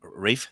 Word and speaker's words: Ralph: him right his no Rafe the pronunciation of rafe finds name is Rafe even though it's spelled Ralph r-a-l-p-h um kind of